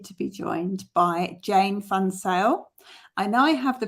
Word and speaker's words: van Zyl: that pronunciation was perfect it is Jane um the my surname is originally South African um if it was Dutch it would be v-a-n and then z-i-j-l um so I know